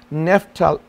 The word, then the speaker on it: Naphtali: And the pronunciation is Naphtali, N-A-P-H-T-A-L-I.